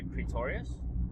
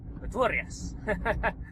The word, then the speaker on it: Pretorius: But generally, we just say Pretorius, which is the English version of it. Yep. If you just say Pretorius. So, yeah, it's pretty simple. Okay. But that's not the right pronunciation. It's actually German. Okay. Yeah. So if you think Pretorius. Okay, if you can throw a German accent into it, you're there.